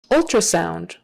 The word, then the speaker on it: ultrasound: the first syllable transplant ultrasound ultra sound that tr is often pronounced more like a chr because doing a proper t is a little trickier ultra ultra typically in